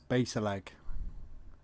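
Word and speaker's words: Bassaleg: the name romney junction it was often pronounced base a leg the brecken and martha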